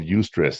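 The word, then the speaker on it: eustress: But there's this term called ustress. It's spelled e u s t r e ss.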